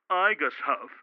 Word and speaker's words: IGHSHF: The International Goodman Honor Society, aka IGHSHF, pronounced IGUSHF, was established in 1982